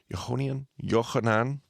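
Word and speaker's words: יוחנן: They say Johannine literature, Yohanan is how you say John in Hebrew.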